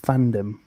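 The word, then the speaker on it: FanDome: Is it Fandom or is it Fandom? They say it's Fandom, but it's spelt dome.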